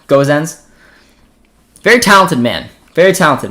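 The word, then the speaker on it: Gosens: uh that's pretty easy goes ins not guzens okay i'm mispronouncing gozens am i saying it right now goes ends very talented man very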